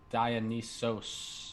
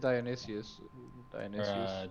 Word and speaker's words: Dionysus: Dionysos. Is that how you pronounce it? Dionysius.